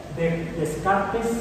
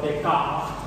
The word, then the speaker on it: Descartes: anterior, francés, René Descartes, Descartes en español o Descartes en francés, así de Descartes, porque la R es natural.